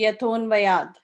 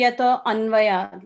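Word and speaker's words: yato 'nvayād: But when pronouncing it, when reciting it, you just say Yaton Vayad. So you just, tend to overlook this apostrophe, okay? Yaton Vayad. Is that clear, Mataji? Yes, thank you. Yeah, Janmadyasya Yaton Vayad. So you don't have to say Yato Anvayad like that. You just combine it, and that is silent, the apostrophe, that's silent there.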